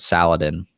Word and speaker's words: Saladin: I'm gonna be Lord Saladin Lord Saladin it's salad in salad in wow that's a good